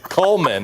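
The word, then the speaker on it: culm: Coleman is how you say it.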